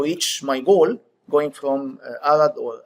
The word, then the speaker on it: Arad: in trying to reach my goal, going from Arad, or Arad as you pronounce it, to Bucharest.